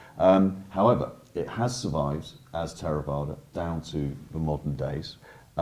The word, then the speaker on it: Theravada: What does the word Theravada mean? And tell us a little bit about what the tradition is and where it came from, Martin. In Pali, I pronounce it Theravada.